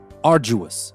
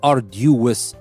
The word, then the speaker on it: arduous: Arduous. Now you can notice that I'm not saying arduous. We don't pronounce the D as a D, we pronounce it as a J.